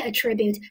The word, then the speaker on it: attribute: 再往下，当我读成 attribute，attribute 作为一个动词的话，tribute 给 at 表加强给你，全都给你。